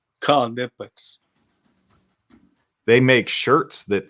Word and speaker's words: Knipex: knipex is not silent they actually want you to pronounce the k in knipex Conex they make shirts that